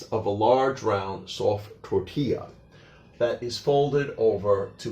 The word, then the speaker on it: tortilla: in American English, and they also have a double L, which is actually pronounced like a Y. So that's why we say tortilla and not tortilla.